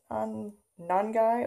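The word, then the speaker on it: Nangai: my new favorite product, non-guy oil, I believe is how you say it, non-guy oil.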